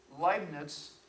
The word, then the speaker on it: Leibniz: I'm not sure which one I was knowing, Leibniz, and Barrow. Be careful of the pronunciation because you might be showing lack of knowledge, it's Leibniz and Euler. EU is pronounced OI.